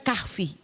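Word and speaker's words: كهف: Kaf bacanya sebenarnya kalau berhenti kaf ya. Kaf ya kan. K ha sama f-nya dijadi satu. Tapi kalau dilanjutkan kahfi gitu ya.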